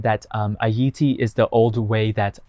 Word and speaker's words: Ayiti: In that video I said that Ayiti is the old way, that's how you pronounce Haiti. It's not the old way, it's like the Creole patois way to say it.